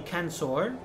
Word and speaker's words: censor: We have the censor. Remember, in Latin, the C is always hard. There is no soft C in Latin.